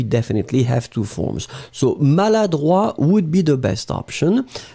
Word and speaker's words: maladroit: pronounce it slightly differently, because maladroit, masculine, final T not pronounced. And then feminine form, maladroite, you will pronounce it.